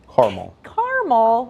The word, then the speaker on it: caramel: Okay, so I've got Patty Taylor over here on my Facebook page, and she says it's Caramel, which hurts me to say. The A is silent. On what planet is an A silent?